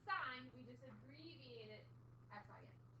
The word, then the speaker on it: sin: We abbreviate sign as S-I-N. It's not sin. Can't sin in that. Okay? That is pronounced sign.